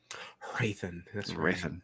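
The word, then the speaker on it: Hrathen: Raithan. That's H is silent.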